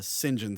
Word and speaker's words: St John: is it it's a John uh singen SMI but it's spelled St John Smith that's dumb he uses